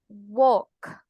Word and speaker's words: walk: Se escribe W-A-L-K. Escuchamos a María Linda y a Julie, ambas pronunciándolas, ¿verdad? ¿Qué escuchamos? En una pronunciación íbamos walk. Tratamos de hacer todos los sonidos.